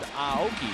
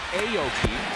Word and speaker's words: Aoki: to be called chica his last name is pronounced aoki not aoki as we've been butchering it all these years here in the states a fine play by